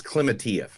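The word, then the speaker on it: Klementieff: We're gonna hear how to pronounce this real quick. Okay, so Neil has to hear this. So. Oh, it's Klimatiev.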